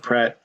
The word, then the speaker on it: Praat: Well actually, what's cool with Praat not Pratt in my home life, I call it Pratt. I know it's not the right way to pronounce it, but I do.